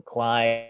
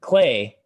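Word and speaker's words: Klei: So Clyde, Mark of the Ninja, especially Clay. Sorry, I keep pronouncing it Cly. Clay is actually a pretty decent developer.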